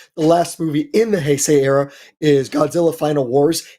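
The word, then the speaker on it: 平成: I like the Heesai era. Am I saying that right? Hesai. Uh, usually it's pronounced Heay. Heay.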